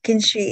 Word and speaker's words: kintsugi: There's this Japanese term, please forgive me if I get the pronunciation wrong, but I think it's kintsugi. And is that right? Oh, kintsugi, yeah.